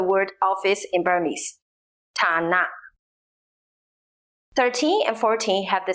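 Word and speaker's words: န: Next is na ji, pronounced na. This consonant sounds like an English N, as in net.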